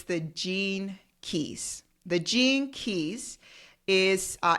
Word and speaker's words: Gene Keys: say it interesting but it's Gene like the genes uh in our body meaning g e n e and then key like a key k e y s g